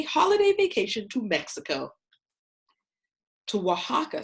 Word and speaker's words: Oaxaca: Lac it's the name of the state it's pronounced Oaxaca and here at the star is Oaxaca City